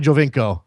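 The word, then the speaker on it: Giovinco: So I should say Jovinko, okay? I'll say Jovinko from now on.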